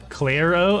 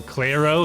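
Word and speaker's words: Clairo: me by the name is pronounced claro oh okay her real name is claire cotrill or katril okay so claro am i saying it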